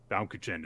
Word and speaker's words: Baumkuchen: Baumkuchen. Baumkuchen is how you say it.